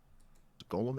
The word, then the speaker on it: golem: Golem and sits. Hebrew avoids Vader would be Satan. Writing vowels, hence GLM is pronounced golem.